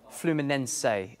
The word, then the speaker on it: Fluminense: and they were absolutely brilliant A Cut Above fluminense is the way that we're pronouncing it here at SK sports news Neil